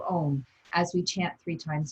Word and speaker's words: Om: today the first sound ah' represents your normal waking consciousness ooh the second syllable your dreaming state of consciousness and mmm when you're in that deep dreamless sleep so let's use the three separate syllables of ohm as we chant three